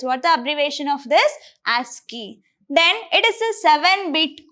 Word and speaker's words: ASCII: And here you can see ASCII code and how we are going to pronounce this ASCII. That is what? ASCII. We are not going to call this as a ASCII. Instead of that, we are going to call that as ASCII.